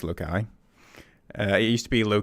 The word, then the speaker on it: Loci: So first thing, it's Loki. I used to go around in the circles, but it's Loki.